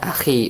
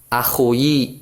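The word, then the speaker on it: أخي: Sedangkan dia disandarkan kepada saya maka dibacanya akhi bukan akhuyi ya.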